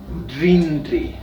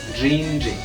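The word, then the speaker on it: rinri: oreja o IRS es rindee sí la pronunciación de la r en quichua es como una doble r sí se asemeja sin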